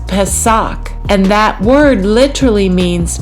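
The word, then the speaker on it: πάσχα: And that word is Strong's G3957 and it's pronounced pesak.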